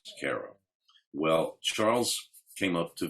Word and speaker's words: Cairo: small town called cairo spelled like cairo egypt pronounced cara well charles came up to visit he was